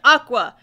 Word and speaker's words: Aqours: spelled like the word Aqua it is spelled a q o u r s and they are somehow able to figure out that it's supposed to be pronounced Aqua even though it makes